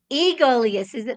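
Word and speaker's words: Aegolius: It took all week for me to pronounce that word. It looks like Egolius, but it's Egolius.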